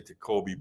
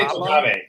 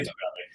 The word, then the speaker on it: Tocabe: And in the beginning of this episode, I said it wrong. I say Tocabe, but how do do you say it? We say Tocabe. Yeah, we say Tocabe. It's said in all different ways. We get a lot of Tocabes, get a little pluralize it, but it's Tocabe.